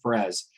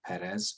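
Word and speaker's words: Pérez: perez actually if you i used to call him george perez until i actually heard him say his name his own name and he said perez and i went okay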